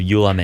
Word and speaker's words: Ulam: Przemek Chojecki, who is the founder of Ulam AI, CEO of Ulam AI. Is that how you pronounce it? Yeah, Ulam.